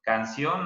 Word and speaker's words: canción: nos dice jose daniel la palabra canción canción así es en la sílaba hong en la última quiero decirles que todas